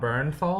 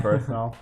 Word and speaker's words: Bernthal: So anything with how do you say his last John name? Bernthal. Just call John him Shane. Shane. Anything with Shane, John Bernthal.